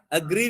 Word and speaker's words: agree: And I agree with you. Agree. Verb kada? Second syllable.